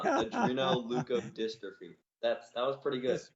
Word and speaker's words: adrenoleukodystrophy: on the pronunciation but i've got yudri no lou code dystrophy that's close so it's uh adreno leuco dystrophy that's that was pretty